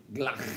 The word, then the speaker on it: Glock: You guys are pronouncing it incorrectly. It is Glock.